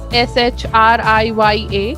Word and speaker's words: Shriya: start with the interview session my name is shreya um so it's spelled as s-h-r-i-y-a shriya and i'm the co-founder for the early